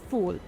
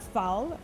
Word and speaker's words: foul: cooked fa beans called fol it's spells like foul but it's pronounced like you would in French kind of like when